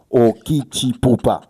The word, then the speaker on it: Okitipupa: Comment est-ce que cela se prononce? Okitipupa.